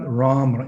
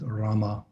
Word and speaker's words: Rama: leaving out some syllables it's not ramra it's rama rama rama rama sometimes the devotees